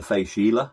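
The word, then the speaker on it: Fèis Ìle: has it on during the face Sheila it's pronounced and that's the Isle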